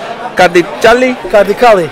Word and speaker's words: Kardiçali: and the surname Kardiçali.